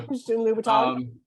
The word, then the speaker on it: Christian Louboutin: Christian Louboutin, Yeah, thank you. Christian Louboutin.